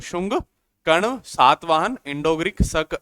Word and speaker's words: शुंग: शुंग dynasty. इसको कई आप शंगु भी बोलते हैं, लेकिन इसका प्रॉपर प्रोनाउंसिएशन जो होता है वो आपका शुंग डायनेसिटी जो आपका होता है।